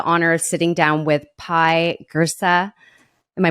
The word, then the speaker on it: Pye Jirsa: I have the honor of sitting down with pie gersa am I pronouncing that right yes amazing so pie I